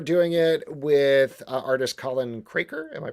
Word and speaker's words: Craker: You are doing it with artist Colin Craker. Am I pronouncing that? Craker.